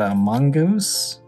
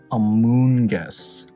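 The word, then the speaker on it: Amoonguss: We got a Mungus. Amungus? Amoongus. Amoongus, that's how you pronounce them.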